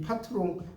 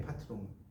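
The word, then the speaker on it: patron: 어쨌든이 파트롱 프랑스식 발음이에요. 파트롱.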